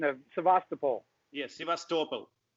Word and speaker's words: Sevastopol: Yes, Sevastopol. Sevastopol. Sevastopol. So it's a soft L too, so Sevastopol.